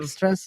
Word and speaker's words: Dijkstra's: I don't even know how to pronounce this. Dijkstra's algorithm? Dijkstra's, yeah.